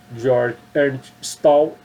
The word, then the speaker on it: Georg Ernst Stahl: Se escreve Georg Ernst Stahl, se pronuncia Georg Ernst Stahl.